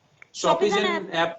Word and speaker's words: Shopizen: हाँ एक और चीज बता दूं, हाँ कई लोग नाम के हाँ प्रोनाउंसिएशन हाँ में गड़बड़ करते हैं। शॉपिंग वर्ड से निकला है शॉपी, हम्म शॉपिंग करते हैं ना, क्योंकि यहाँ पे पाठक साहित्यिक रचनाओं की शॉपी।